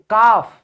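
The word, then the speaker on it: calf: बछड़ा गाय का बच्चा काफ।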